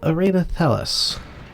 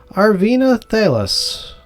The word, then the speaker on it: Arvena Thelas: And we're going to come in here and chat with Arenathelus. Find out what is happening with these rats in her house. Arvina Thalis, I said your name wrong originally.